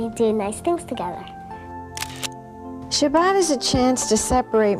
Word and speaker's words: Shabbat: My grandmother called it Shabbos, whereas today we use the Sephardic pronunciation, Shabbat.